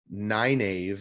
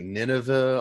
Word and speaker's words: Nynaeve: Nynaeve is not how I pronounced it, and I think that's how they pronounced it. Yeah. I always said, like, I don't know what I called her in my head, like Nineveh almost, or something like that.